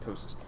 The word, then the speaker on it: ptosis: that put ptosis right it's just ptosis and I think a PO is like it's a little different so a boat's hostess anybody heard it that way with the silent P no you're only gonna